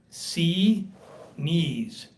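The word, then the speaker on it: Xinis: I spoke to a uh clerk uh in the court uh and she sounded authoritative uh and she said it's pronounced C knees and so uh I think that that sounds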